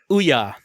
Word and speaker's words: Ouya: bunch of Oya games is that how you pronounce it Ouya Ouya yes the Ouya yes I I did